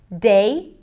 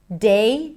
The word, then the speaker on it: they: For example, they. So, a lot of people might substitute the voice th with a d sound.